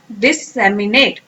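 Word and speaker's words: disseminate: Next word है हमारा डिससेमिनेट। इसका मतलब क्या है? ब्रॉडकास्ट करना किसी चीज को। पहले इसको प्रोनाउंसिएशन करते हैं, वर्ड्स को तोड़ तोड़ के प्रोनाउंस करें। This, same, E एंड net, okay.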